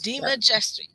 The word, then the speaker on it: DeMajistre: Did I get it right? DeMajistre. Close. DeMajistre. Just. Got it. Okay. I'm going to get it right. Jestry. Okay, DeMajistre.